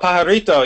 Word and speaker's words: Pajarito: Is that how you pronounce it? Oh, pajarito, yeah.